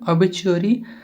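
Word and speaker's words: obituary: सही है इसका प्रोनाउंसिएशन अबिचुअरी। और अबिचुअरी का अर्थ होता है निधन सूचना।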